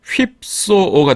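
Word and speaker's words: ὑψόω: 이게에 피읍하고 시옷이 함께 있는 스펠링이죠. 그래서 힙소가 됩니다.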